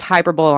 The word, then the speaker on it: hyperbole: It'll be pronounced hyperbole on this channel to the day I die.